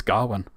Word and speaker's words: Gawain: It's Gawain.